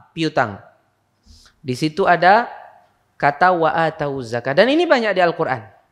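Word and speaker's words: وآتوا الزكاة: Di situ ada kata wa atawuz zakah. Dan ini banyak di Al-Qur'an. Hati-hati itu. Pian membacanya nang kayak apa? Wa atawuz zakah. Wawnya itu didommahkan.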